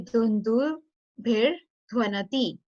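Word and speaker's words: दुन्दुभिर्ध्वनति: So there is Sandhi happened here. It was Dhundubhir, but originally it was Dhundubhi plus Dhwanati. So that's why it would be Dhundubhir Dhwanati.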